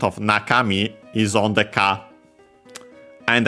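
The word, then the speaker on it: 中: and so on uh on its own accent on the first moa naka then me uh we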